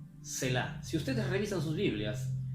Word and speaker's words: Selah: que pasa inadvertida, y esta palabra se pronuncia así más o menos: Selah. Selah.